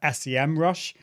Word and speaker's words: Semrush: I always used to call it SEMrush, search engine marketing, but it is pronounced SEMrush.